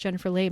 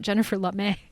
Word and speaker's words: Jennifer Lame: one for Oppenheimer which apparently her name is pronounced Jennifer lame and not Jennifer lame which is how I've been pronouncing it my